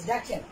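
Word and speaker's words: the: গতকালকে আপনাদেরকে বলে দিয়েছিলাম আসলে টিটা খানিখানা দা দিয়ে মানে এই দা এর উচ্চারণ কখনো দি হয় কখনো দা হয়, আর এর বাংলা অর্থ আসে টিটা খানিখানা, এই চারটি অর্থ আসে।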